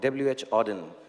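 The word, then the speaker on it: W. H. Auden: so it's a part of a poem from WH Auden that's how you pronounce it so I wish you first a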